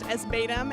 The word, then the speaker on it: ESBATM: It's ESBATM. It's pronounced SBATM, and it's an acronym for Eat Shit, Bark the Moon.